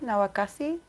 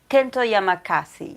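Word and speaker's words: Kento Yamazaki: is kento kento nawa nawa castle nowakasi no i'm saying it wrong kento is and the actor of um alice in borderland kento yamakasi yes um and he he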